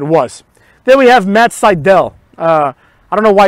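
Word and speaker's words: Sydal: was what it was then we have matt seidel uh i don't know why it's pronounced seidel it's obviously citadel but it is what it is [ __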